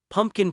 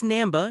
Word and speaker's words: Namba: after another, Ash said, "Pumpkin professor, I have something to say to you. The real power of Pakan comes from full trust in the trainer that is Bond. It's Namba, not Pumpkin."